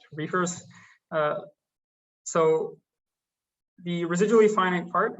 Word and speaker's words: RFRS: of reefers groups so rfrs stands for residually finite rationally solvable pronounced reefers so the residually finite